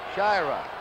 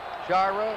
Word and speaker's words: Sciarra: We asked him yesterday, and he said it's Sciarra. Sciarra, some call him. We're going along the way he wants it. Sciarra, his name.